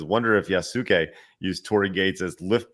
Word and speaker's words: Yasuke: John says, don't the Yasuka use Yakuza?